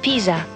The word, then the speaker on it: Pisa: It's actually the Leaning Tower of Pisa.